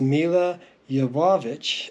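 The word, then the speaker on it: Milla Jovovich: Today we're looking at the Resident Evil DVDs that originally came out, and I've been pronouncing her name incorrectly for years. It's Mila Jovovich, according to what I just looked up online, and I am a fan of hers.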